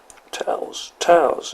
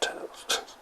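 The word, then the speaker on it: Taos: Towels is how they pronounce it, Towels.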